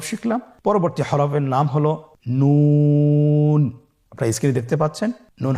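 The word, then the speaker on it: نون: আপনারা জিব্বার আগাটা তার বরাবর উপরে তালের সঙ্গে লাগিয়ে উচ্চারণ করুন এবং আমার সাথে বলুন নুন। আবার বলুন নুন।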